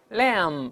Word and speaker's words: lamb: lamb 我们讲过这个 b 不